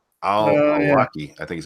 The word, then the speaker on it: Al-Awlaki: And that was Anwar Al-Awlaki. Al-Awlaki, I think is how you say it.